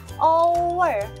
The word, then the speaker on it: hour: Hour sama honor. Bacanya bukan hour ya, tapi apa? Hour. Oke, jadi apa? An hour. Honor, bacanya bukan honor tapi honor. Jadi an honor. Jadi kesimpulannya apa? Oh, hurufnya pertama itu bendanya adalah huruf konsonan, tapi bacanya adalah vokal. Maka kita menggunakan an. Contohnya haur kan hurufnya H, tapi kok bacanya O, hour.